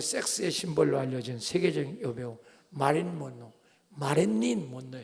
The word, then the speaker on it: 마릴린 먼로: 문남성의 섹스의 심벌로 알려진 세계적인 여배우 마릴린 먼로예요. 정확히 우리는 발음이 어려서 마린 먼로라 하죠. 원래는 마릴린 먼로. 한국 사람 발음이 어려워요. 마린 먼로 그랬는데 마릴린 먼로야.